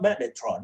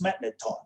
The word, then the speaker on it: magneton: Don't spell it as magnetron. It's not magnetron, it is magneton, all right?